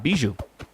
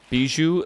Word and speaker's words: Bijou: Bijou.